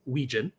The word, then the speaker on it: Wetjen: But we have a guy so famous in Iowa lore, we just call him by his last name, Weegen. It's spelled Wetjen.